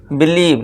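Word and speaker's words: believe: बिलीव, यानी कि भरोसा करना।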